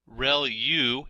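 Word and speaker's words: ReLU: there are multiple hidden layers like convolution layer real U is how that is pronounced when that's the rectified linear unit that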